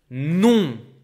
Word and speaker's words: non: By the way, this is how you say no in French. It's like if you write it with an N instead of an M. Non.